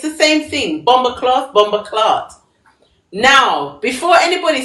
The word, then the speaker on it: BomBoKloth: Bomber cloth.